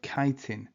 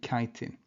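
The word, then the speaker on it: chitin: of a chemical called kitin. I know it's spelled chittin but it's a kitin and this differentiates the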